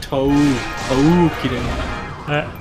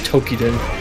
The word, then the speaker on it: Toukiden: Oh, okay, so I was yeah, I forgetting should have pronounced it Toukiden. What the hell? Yeah, because everybody I've known that's pronounced it has always said Tokiden, but it's actually from what it's spelled.